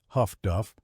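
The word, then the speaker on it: HF/DF: Highfrequency direction finding HFDF, pronounced huff duff, allowed escorts to detect hubot radio transmissions and get a bearing on the transmitter.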